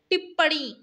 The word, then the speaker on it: टिप्पणी: वाला न होता है लास्ट में आप प्रोनाउंस करके देखिए टिप्पणी अण की आवाज आ रही है ना तो ये वाला ण होता है वो टिप्प ड़ी नहीं होता डी नहीं आता उसमें ठीक है अब